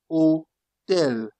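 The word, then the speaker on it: hôtel: Keep in mind that ash usually is silent in French. Usually, not always, but usually silent. Ash usually is silent. For example, you have O tell that forget about the H. You just pronounce from here. O tell.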